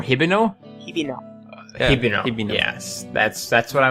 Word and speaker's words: Hibino: um i think it i think it's pronounced to be norihiko hibino or hiberno yes that's that's what